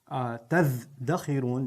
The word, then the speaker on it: تَدَّخِرُون: Now, the word dakhar, تَدَّخِرُون, is actually dhakhar with a dha. تَدَّخِرُون becomes تَدَّخِرُون. This is a principle in sarf where you fuse letters together that are similar in pronunciation.